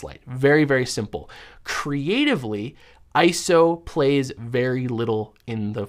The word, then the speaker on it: ISO: Used to be called ISO. Actually, it was never called ISO. We used to call it ISO, but it's pronounced ISO.